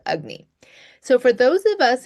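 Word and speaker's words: agni: So this is what ancient Ayurvedic texts and practitioners called ugnney. Now it's spelled a g n i but it's pronounced ugnney.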